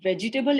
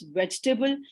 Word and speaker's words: vegetable: pronounce so for example it's not vegetable it's vegetable where to put the stress conscious syllable emphasis um you know you